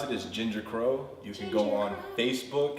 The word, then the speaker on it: JingerKroa: The way you pronounce it is JingerKroa.